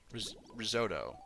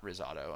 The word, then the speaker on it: risotto: Okay, risoto. Not rzado.